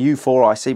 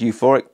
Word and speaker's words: Euphoric: You've got the Euphoric, which I keep calling U4IC, but it's actually pronounced Euphoric, aids the midsole through additional cushioning, responsiveness.